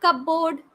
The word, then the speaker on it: cupboard: Cupboard. Is it cupboard? No. It is cupboard. P is silent here.